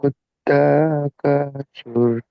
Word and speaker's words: التكاثر: সুর, এই সাটা জিভের আগাটা আমার দাঁতের আগায় লাগছে, এরকম ভাবে উচ্চারণ করেন।